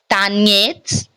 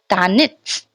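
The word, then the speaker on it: танец: So instead of pronouncing tanets, we will pronounce tanits, tanits, tanits, not yets, tanets not. Okay. Why this is so? Because ye is unstressed in the word tanits.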